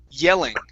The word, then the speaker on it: yelling: this next one okay take a look at the Y at the beginning okay you started off with an o sound saying Welling instead of O It's y yell yelling yelling very good okay